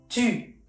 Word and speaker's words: tu: Es poner la boca en forma de O y con todas tus ganas tus cuerdas vocales quieren pronunciar la letra I.